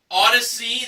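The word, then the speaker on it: Audeze: Okay, our next item up for bids was a pair of Odyssey, that's spelled A-U-D-E-Z-E, handcrafted magnetic headphones with case included, plus a 160 gig Apple iPod Classic included.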